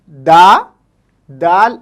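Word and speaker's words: دادا: तरीके से हम देख सकते हैं, दाल अलिफ दा, दाल अलिफ दा, दादा, ओके।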